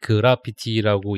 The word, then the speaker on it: 그래피티: 이게 이제 그래피티라고 읽어야 이게 맞는 거다라고 네.